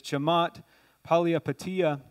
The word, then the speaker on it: Chamath Palihapitiya: One of the head executives of Facebook, and this guy was from Sri Lanka, so his name's hard to pronounce, but it's Chamath Palihapitiya.